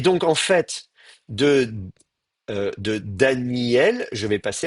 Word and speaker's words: Daniel: un allongement du iode, Daniel. Et donc ça, c'est la prononciation qu'on va avoir, Daniel. Alors du coup, le aleph, il ne sert plus à rien. On ne le prononce plus.